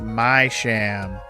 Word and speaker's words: Misham: very questionable so apparently the misham surname is supposed to be pronounced my sham ah because he's a sham that makes more sense my sham cuz you